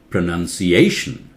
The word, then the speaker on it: pronunciation: now listen pronunciation pronunciation look careful it's underlined that means many people mispronounce they say it wrongly that is because one o is missing here look at this this MOU NCE nouns pronounce this one is nu and one always missing so predominant pronunciation let